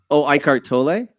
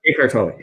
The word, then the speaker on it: Eckhart Tolle: And then line with like the Eckhart Tolle, whatever, I'm getting his name wrong. Eckhart Tolle. Eckhart Tolle.